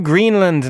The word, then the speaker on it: Greenland: To Greenland now, which is opening a new parliamentary session this afternoon and could be headed for early elections.